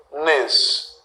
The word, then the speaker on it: hífenes: Agora, existe outro plural para a palavra hífen, que é hífenes. Fazendo a divisão silábica, olha. Hífenes. Última, penúltima, antepenúltima sílaba é a mais forte.